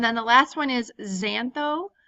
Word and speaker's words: xantho: the last one is xantho the X is pronounced as a Z and that would be